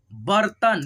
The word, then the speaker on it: बर्तन: बर्तन, देखिए यहाँ पे त पे रेफ की मात्रा लगा हुआ है, इसीलिए हम लोग पहले रेफ की उच्चारण करेंगे, बर्तन, ठीक है।